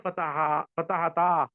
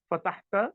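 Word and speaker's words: فتحتا: So keep in mind that you have to pronounce this very correctly. Otherwise, you change a fatahata into fatahta, and that's a major mistake.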